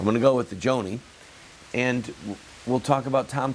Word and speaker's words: Joni: I heard somebody on Fox or CNN call her Johnny, but I heard several people last night call her Joni. I'm going to go with the Joni.